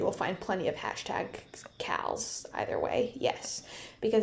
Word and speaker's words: CAL: and so it's a c a l or a k a l so it's pronounced Cal either way but one is a